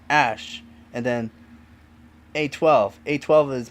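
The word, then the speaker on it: Æ: Musk meanwhile told podcast host Joe Rogan, I mean it's just X, the letter X and then AE is like pronounced Ash and then A12.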